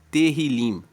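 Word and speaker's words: Tehilim: No hebraico, ele se chama terrilim. Se escreve T E H I L I M.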